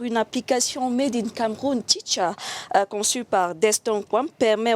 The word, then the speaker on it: Teach'Ar: Teacher ou bien teach et art? C'est quoi la bonne prononciation? Après des analyses, nous avons opté pour teacher. Tout simplement. Teacher. Mais c'est écrit teach et art.